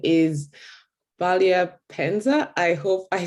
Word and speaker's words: Bwalya: My name is pronounced Bwalya. So the B is Bwalya. almost silent, but not quite silent. Bwalya, kind Yes.